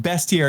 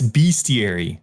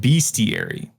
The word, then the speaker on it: bestiary: note I deleted hey it's not best here it's bestiary nope you speak English it's best add know it's it's it's spelled see it's also chief tain it's pronounced bestiary no my wife knows